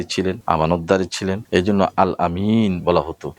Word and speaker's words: আল আমিন: তিনি ছোটবেলায় সত্যবাদী ছিলেন, আমানতদারী ছিলেন, এই জন্য আল আমিন বলা হতো। এখন আল আমিনকে অনেকে আলামিন বলে, তাতে কোনো সমস্যা নাই, কিন্তু আলামিন অর্থে ব্যবহার করা যাবে না।